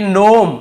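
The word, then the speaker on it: gnome: Silent है यहां पर देखिए नोम यहां पे जी लिखा हुआ है सामने लेकिन हमें केवल इसे नोम पढ़ना है जी को नहीं पढ़ना है यह आपका जी का नियम।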